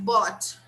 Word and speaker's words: bought: Buy in the simple past, bought. Bought. We don't pronounce the G and the H. They are totally silent.